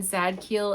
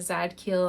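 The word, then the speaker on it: Zadkiel: really cool so how do you know when zad Keel is in your life or sending you signs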